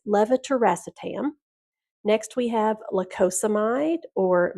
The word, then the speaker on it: levetiracetam: Lamotrigine or Lamictal, levetiracetam or Keppra. That is one of our most commonly mispronounced medication, so you'll hear a lot of people just say generic Keppra, but it's levetiracetam.